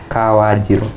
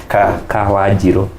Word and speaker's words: Kawanjiro: How do you pronounce it again? Kawajiro. I can't. And if you're from Nyeri, the intonation will be a little bit heavier. Give us that intonation. Kawajiro.